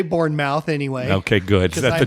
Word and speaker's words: Bournemouth: born identity all right it's Bournemouth all right it's Bournemouth even but it's spelled mouth I know even Americans should say Bournemouth okay all right so